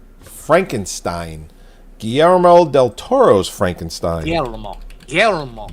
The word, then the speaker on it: Guillermo: Guillermo. Yeah, you got to roll that R.